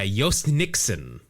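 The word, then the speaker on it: Jhostynxon: Jose Nixon Garcia wow his name is spelled j h o s t y NX o n wow wait wait wait a y and an X yeah Yos Nixon and a j how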